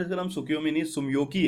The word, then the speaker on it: Tsumyoki: है नाम ही ऐसा सुमियो की सुमियो कीय पहले मैं ना इसको सुकि योमी पढ़ता था सुकि योमी ना एक्चुअली